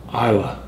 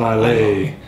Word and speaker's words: Islay: Islay. Islay. Islay. I wanted to say lay. Yeah. It's not Islay. It's Islay. Islay. Like I love Lucy is how someone had said See, we're getting smarter, even though I got on it.